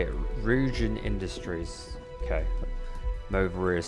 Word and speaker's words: Ryujin: Ryujin Industries. Okay. Movery is saying Ryan Industries.